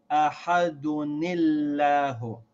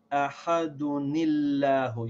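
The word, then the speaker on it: أَحَدٌ ٱللَّهُ: followed by hamza al-wasl, you pronounce the noon sound of the tanween with a kasra. As in this example, you would say ahadunillahu. So you have to remember this, so that when you don't see that noon in certain prints of the Quran, you have to remember to say ahadunillahu.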